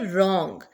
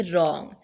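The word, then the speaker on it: wrong: जाएगा surd next है रंग डब्लू की प्रोनंसिएशन नहीं की जाएगी डब्लू को अंडरलाइन कर दे बाकी चार लफ्जों की प्रोनंसिएशन हम करेंगे और बोलेंगे रंग आंसर अब आंसर में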